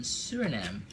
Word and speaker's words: Suriname: In Suriname, the E is silent.